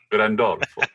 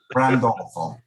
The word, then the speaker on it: Grandolfo: Say my last name. Grandolfo. Randolfo. Oh, you totally butchered it.